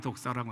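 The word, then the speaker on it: δόξα: 발음이 독사라고 하는데, 이제 이 의미는 생각하다, 믿다 라는 동사 도케오라는 에서 유래한 단어입니다.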